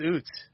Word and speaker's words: Utz: That is the first time I have any ever heard anyone pronounce UTS's pretzels as oots as pretzels. I don't know. It's oots. It's oots. Is it not oots? I have always called it uses.